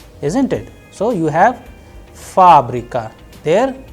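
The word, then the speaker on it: фабрика: a very specific example fabrica where you have multiple vowels isn't it so you have fabrica there the stress is on first ah that is why it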